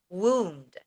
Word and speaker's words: wound: Okay, so the next one is more pronunciation alert. So the word was wound.